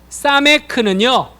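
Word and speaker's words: סמך: 자, 사메크는요, 그냥 쉬워요. 동그라미 치시면 사맥이에요. 네, 동그라미 치시면 사맥. 발음은 시옷 발음, 사메크. 좀 강한 시옷, 사맥.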